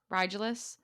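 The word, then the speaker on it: Rigelus: Hunt knew why a moment later as Riglius, is that how you say his name? Riglius? Rigulus? Rigulus. Riglius? It's Rigulus. Rigulus?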